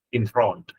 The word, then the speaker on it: enthralled: I'm enthralled, âm o nha, enthralled, âm o xong rồi chữ ad thì phát âm đờ, enthralled.